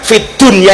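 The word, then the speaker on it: في الدنيا: bukanar nnyata ulama-ulama kita mengajarkan Fid Dunya itu harus dibaca Idhar bukan Idham Kenapa karena urusan dunia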